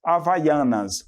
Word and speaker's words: Havaianas: Eles falam também assim como nós, havaianas, né? Las chanclas havaianas.